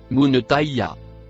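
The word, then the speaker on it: منتهاها: Le mot en vert et noir se prononce munetaya.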